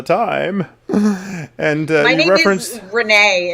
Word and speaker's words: Renée: and uh you referenced renee it rhymes with my sexuality so i'm like gabriel